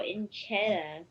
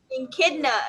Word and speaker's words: echidna: The weird and wonderful Enchetta. Echidna is how you say it.